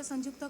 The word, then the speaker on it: Sanjukta: Sanjukta, you pronounce J or you don't pronounce J, like in Spanish? Pronounce. Due to tuberculosis. Yes, start. Good afternoon, everyone. Today, myself, Dr. Sanjukta, junior residency.